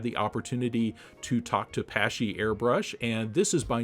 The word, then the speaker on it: Paasche: So many different ways that they say it, and the real pronunciation is Paasche.